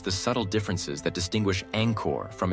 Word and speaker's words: Angkor: subtle differences that distinguish Angkor from its Western mispronunciation. They demonstrate that the first syllable carries the soft A of father, the nasal ng like in song, and the short clipped vowel of kor.